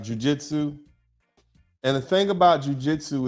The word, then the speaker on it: Jiu-Jitsu: a picture up earlier starts with a J sounds rhymes with flu right Jiu-Jitsu and the thing about